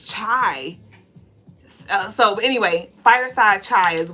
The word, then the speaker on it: chai: It's chai, right? It's not kai.